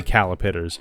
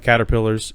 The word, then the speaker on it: caterpillars: And I actively have to not say calipiters every single time I say caterpillars. Even though we read the Hungry Hunger Caterpillar every other night, it is an active effort on my part to say it correctly because of how long I said it incorrectly.